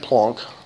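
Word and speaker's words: Planck: a FR or French he's a German dude and his name is pronounced plonk name form what was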